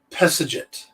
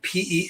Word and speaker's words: Pesedjet: Now, the reason it's difficult to pronounce is that it would actually, in hieroglyphics, it would be PSDT, because hieroglyphics don't have vowels. So, but if you actually tried to write it out, it'd be Pesedjet, Pesajit.